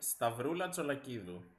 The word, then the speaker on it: Stavroula Tsolakidou: Stavroula Tsolakidou. Easy, right? I guess the only hard sound is that D in Greek is pronounced as th. So, like the in English.